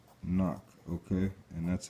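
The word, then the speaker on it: אָנַח: All right, AHNAQ. Okay, and that's how it's pronounced, and that's Strong's H 584, just so you can get an understanding of what this is exactly saying.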